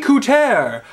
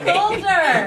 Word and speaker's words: Coulter: Ann Coulter! I don't know who it is. I thought it was a French pronunciation. Number 3, Anne Coulter, who attacked 9/11. Coulter! We just told you it was Coulter.